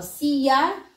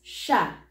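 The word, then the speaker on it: siya: previous series as well see ya or we can pronounce it as sha so we'll start with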